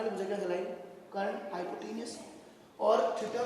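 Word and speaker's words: hypotenuse: थोड़ा स्पेलिंग सही कर लेना, पर हाइपोटीनियस बोलते हैं।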